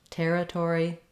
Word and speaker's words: territory: Moving on in territory, letter I is going to say an I or an It's a reduced vowel and it's unstressed. Territory, territory. Doesn't make much difference if I say I or there. I just want to be very short and reduced on that. And then letters OR in this word do say the OR sound, territory. And so just like in the word tore, like I tore the page.